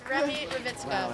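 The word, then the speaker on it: Remy Ravitzka: Wait for your name and spell it. Remy Ravitska, so it's R-E-M-Y and then R-A-V-I-T-Z-K-A.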